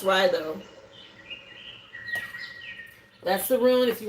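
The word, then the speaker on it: Raido: Again, pronounced Ryo. I know it looks like Rao, but it's pronounced Ryo.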